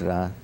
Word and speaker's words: Ra: and the Egyptian goldra some say re but it's ra I mean the same people who who who spell it r r e then go and write the name of the Pharaoh Ramses Ramses which means issue emanating from Rah so when they say the name of the Pharaoh they say Rah but when they say the name of the god they spell it re it's ra it's ra because it's also appears